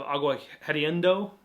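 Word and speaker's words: Agua Hedionda: You have Agua Hediondo.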